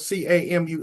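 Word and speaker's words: Camus: Okay, the plague and his last name is spelled C A M- U S. Albert Camu, the plague.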